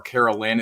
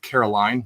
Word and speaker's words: Caroline: I was called her Caroline. It's actually Caroline, like Sweet Caroline. So take it away, guys. Introduce yourselves. Go on then, young lady. Hi, I'm Caroline, and this is...